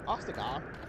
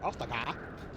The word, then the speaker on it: Ostagar: But yeah, Ostagar. This is a. Why did I say it like that? Ostagar.